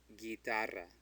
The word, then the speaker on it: guitarra: So a U between a G and an I is silent. So it's guitarra. Guitarra. Since it's G-U, it says ga. And because the U is between a G and I, it's silent. So it's gi.